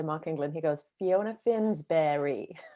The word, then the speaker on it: Finsbury: i pronounce it correctly yeah finnsbury is how i say it and it makes me laugh because mark really eeks out my our teacher mark england he goes fiona finsbury like that yes that